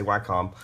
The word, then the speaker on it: Wacom: or how to say it but I say why com and i've got an older cintiq 24 you